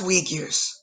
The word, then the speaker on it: Uyghurs: the Uyghurs, but I It's, it's pronounced Uyghurs.